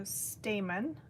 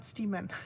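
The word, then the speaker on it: stamen: Jesse says there are stamon. Oh, right. Not stamman. I think I mispronounced it.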